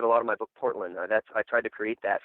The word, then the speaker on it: Portlyn: It's called Portland, which is spelled Portlyn.